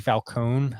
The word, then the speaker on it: Falcone: So what can you guys tell me about Maxi Falcone? I'm assuming it's pronounced. I mean, it looks like it's Falcon, but yeah, Falcone, I believe.